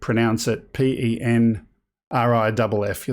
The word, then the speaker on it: Penrith: And there's a similar one for Penrith. You pronounce it Penriff. That makes you a real Aussie.